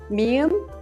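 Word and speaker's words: 미음: a strong T sound mium has the English M sound and pup has a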